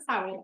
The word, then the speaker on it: Samhain: Very important to pronounce it Samhain. I've seen so many TikToks about witches being like, it's Samhain, not Samhain, so it's Samhain, God forbid.